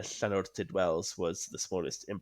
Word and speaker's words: Llanwrtyd: Victorian pub situated in Llanortyd. I think that's how you say it. It's Llanortyd, Wales. Llanwrtyd, yeah.